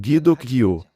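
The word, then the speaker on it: 기독교: Na Coreia, o cristianismo é pronunciado como Gideok-gyo. Nos primeiros dias do cristianismo,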